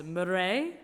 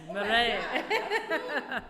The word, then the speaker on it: Mireille: I roll the R. It's Mireille. Yes, Mireille.